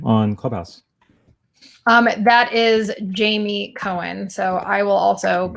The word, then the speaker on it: Jaime: make sure that you spell jamie correctly it's spelled like jaime a lot of people spell my name wrong and if you do you won't be able to find me so it's j-a-i-m-e wouldn't that be a